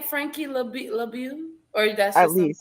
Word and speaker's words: LeBeau: Is that your real name, Frankie LeBeau? Or that's At just least. something you made up? Frankie Yeah, that's my LeBold. name. How do I You said it right. LeBeau?